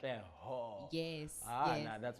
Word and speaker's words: Katleho: Is it an H-O or G-O? It's an H-O. It's an H-O, it's like Katleho.